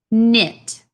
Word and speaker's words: knit: looks like connect but the K in this word is silent so it says knit do you know what